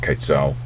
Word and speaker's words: quetzal: a zero and yes I do know it's pronounced quetzal but not in Aztec times it wasn't sadly modern